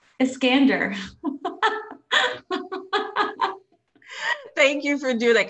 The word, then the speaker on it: Eskander: because a lot of people get my last name wrong iskander thank you for doing that because it's just